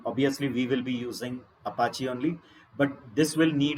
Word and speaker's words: Apache: The common one is Apache. Apache म्हणायचं नाही, clear? Apache.